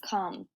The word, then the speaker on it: come: The next word is come. Come. This word looks like comb if it follows the magic E rule, but it doesn't.